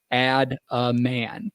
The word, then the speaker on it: Adaman: a's it's one word a-d-a-m-a-n but it's pronounced pronounced add a man is it like short for adamantium claws like